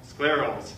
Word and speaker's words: scleral: At least my patients say it rhymes with miracle. Sclerals.